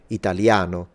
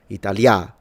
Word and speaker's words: italiano: Like in the word italiano, where the stress is in a, italiano, which is the penultimate.